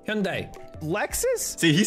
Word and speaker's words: Hyundai: uh hyundai hi hyundai goddamn brother that's that's pronounced hyundai brother or d nissan okay for sure for